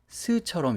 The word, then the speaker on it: close: 주의하실 게 이 close의 발음을 close처럼 이렇게 하셔야 형용사가 되니까 close라고 하시면 되고요.